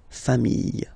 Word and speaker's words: familles: the plural form, les familles, okay. Remember, chien, singular form, chien, same pronunciation, but you put this S, okay, final S, not pronounced. Famille, singular form, famille, plural form, same pronunciation, S, not pronounced.